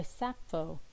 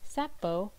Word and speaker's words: Sappho: Century Greek writer named Achilles tatius or by sappho a celebrated ancient Greek lyric poet who lived between the 7th and 6th centuries BCE sappho which is spelled s-a-p-p-h-o and pronounced sappho is especially noted for her poetry